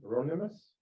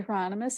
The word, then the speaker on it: Hieronymus: Next up, I have Ronimus. Did I say it right? So good evening, everyone. My name is Hieronymus.